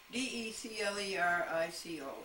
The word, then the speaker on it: DeClerico: Gamma defendants: Bodine, Howard, DeClerico, come on, Glendora, Declerico, it would be pronounced DeClerico, follow the clerk, and Kruger are sued for their abandoned violation of a very clear law, Title 28 U.S.